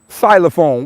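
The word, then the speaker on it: xylophone: me that ain't right silophone why the is it an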